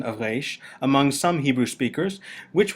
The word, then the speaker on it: resh: Therefore, you might think of the pronunciation of Resh like that of the letter R in French or German, as in regard or recht, which is